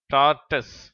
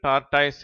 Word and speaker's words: tortoise: டார்டஸ், இதை இந்தியர்கள் டார்டாய்ஸ் என்றும் உச்சரிக்கிறார்கள்.